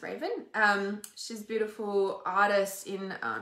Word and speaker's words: Raven: Raven, it's literally pronounced Raven.